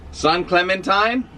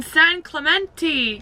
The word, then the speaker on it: San Clemente: hours south of LA to San Clementine we're in San Clemente Clemente oh Clemente San Clemente I think that's how you say it and